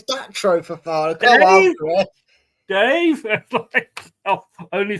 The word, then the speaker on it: Datro Fofana: It's Datro Fofana, not David Fofana. It's David Datro Fofana. No. We want a fancy name. It can't be David for the last so far. It's Datro Fofana.